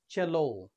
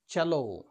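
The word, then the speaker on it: cello: থেকে ইংলিশ ভোকাবুলারিতে এসেছে এই ওয়ার্ড উচ্চারণ হবে চ্যালো নয় চ্যালো এর উচ্চারণ হবে চেলিস্ট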